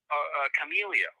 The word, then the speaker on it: Chameleo: Is that the pronunciation for it? Chameleo.